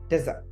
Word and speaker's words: desert: So, প্রথমটা হচ্ছে এই যে দেখেন DESERT, ডেজার্ট। প্রথমটা উচ্চারণটা কি হবে? ডেজার্ট।